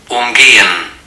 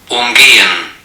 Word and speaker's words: umgehen: Umgehen. Umgehen. Is it the prefix or is it the vowel after the prefix? Umgehen. Umgehen. Umgehen. Umgehen. Umgehen. Umgehen, right? The stress is on the prefix.